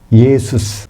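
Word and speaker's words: Ἰησοῦς: 그거를 헬라식으로 발음하면 뭐가 될까요? 예수스. 그냥 예수스. 그러니까, 영어로 말하면 지서스 그거예요.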